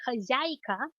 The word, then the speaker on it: хозяйка: For the alternative to owner or proprietor, which is would be хозяйка. That's хозяйка, хозяйка.